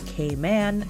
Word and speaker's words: Cayman: and little caiman and technically I should be pronouncing them as k-man but that's just a